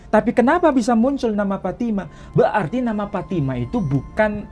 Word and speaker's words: Fatimah: istri Nabi Ismail namanya Fatimah hanya beda cara pelafalan di sini tak disebut Fatimah tapi petima mau disebut petima mau disebut Fatimah itu bukan Sesuatu yang mustahil tapi Intinya kalau ada